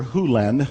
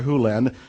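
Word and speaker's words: Hew Len: Hyu Lin. I've shortened it from E to Dr. Lin, but it's actually Dr. Hyu Lin, if you want to say his name correctly.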